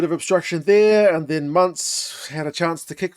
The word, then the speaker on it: Muntz: Keep calling him Muntz. It's Muntz. Rhymes with Hunts. I don't think it's Muntz in any world.